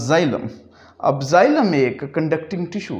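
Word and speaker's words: xylem: सो एक्स को हम pronounce कर रहे हैं विद द साउंड जी।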